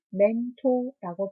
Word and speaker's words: 멘토: 영어로 스펠링이 M, E, N, T, O, R 이라고 적고요. 한국어로는 멘토라고 발음합니다.